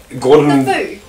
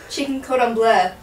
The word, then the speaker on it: cordon bleu: What? Gordon. Chicken cordon bleu. Chicken cordon bleu. That's how it's said.